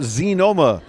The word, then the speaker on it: Xenoma: for a company called Z Noma though it's spelled with an X en OMA dr.